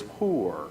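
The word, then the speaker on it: πῦρ: among things fire fire the word actually is poor in Greek although it's spelled like pyre but but the fact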